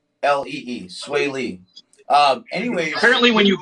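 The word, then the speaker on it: Swae Lee: rapper yeah okay uh it's spelled s-w-a-e-l-e-e sway lee um anyway apparently when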